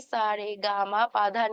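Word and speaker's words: সা রে গা মা পা ধা নি: রে গামা পা ধানি কিন্তু এখানে কিন্তু লেখা আছে দন্ত স র গ ম প ধ ধ ন তাই না কিন্তু আমি এটাকে কিভাবে উচ্চারণ করছি সারে গামা পা ধানি আমরা কিন্তু এটা মোটামুটি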